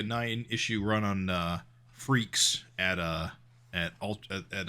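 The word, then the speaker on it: Freex: at uh Malibu is that f r e x that is how that's spelled I don't think I've ever said that title out a loud before I guess I didn't realize it pronounced freaks you I don't think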